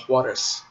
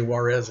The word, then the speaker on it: Juarez: It's called Juarez. Or I guess you could pronounce it the lazy American way and say Juarez if you want to.